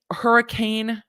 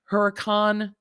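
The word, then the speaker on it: Huracán: mustang a 2019 acura nsx a 2015 lamborghini hurricane huracan a 2019 lamborghini aventador a 2018 jeep grand cherokee i can pronounce that one a 2019 mercedes-benz gle amg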